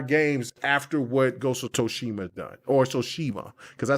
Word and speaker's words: Tsushima: And what is it, Tsushima or is Toshima? I say Toshima. Toshima. Okay, Tsushima. So you're wrong. It's like sushi. Tsushima.